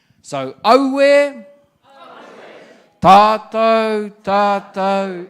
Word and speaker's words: aue: And where you come in is when it goes aue, which is A-U-E, I want you to pronounce aue.